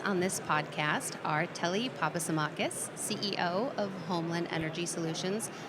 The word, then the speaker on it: Papasimakis: It's a it's a it's a it's a hard Greek name sometimes to pronounce. Uh so, I'm Telly Papasamakis, and I am the CEO and President of Homeland Energy Solutions.